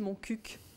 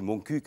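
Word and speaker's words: Montcuq: cul est-ce que vous vous battez pour qu'on prononce bien le cul de mon CUC oui bon on dit moncuc les habitants de monc disent moncuc oui et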